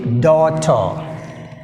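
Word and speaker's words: daughter: Next word 16, డాటర్.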